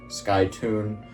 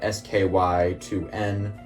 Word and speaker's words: SkyToon: That is SkyToon, spelled SKY2N. So if you want to pronounce it Sky2N, you certainly can. You have my permission.